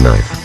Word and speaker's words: Knife: Also, it's pronounced knife. The K and my name is silent.